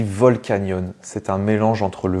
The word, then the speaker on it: Volcanion: donc Giratina Pokémon suivant est-ce qu'on le prononce volcanion ou bien volcanon et bien ça se dit volcanon c'est un mélange entre